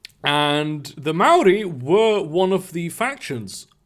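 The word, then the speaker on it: Māori: they are warriors actually you would find that it's pronounced maori I'm sorry honestly that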